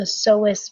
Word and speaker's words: psoas: what are called the psoas major muscles. Psoas is spelled P-S-O-A-S, but notice that the P is silent.